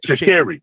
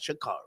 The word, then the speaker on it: Sha'Carri: Well, hang on a second before we go to Sha'Carri, and the correct pronunciation is Sha'Carri. Whatever. No, hold on, sir. Hold on. Let's be precise. She says Sha'Carri, not Sha'Carri. Okay.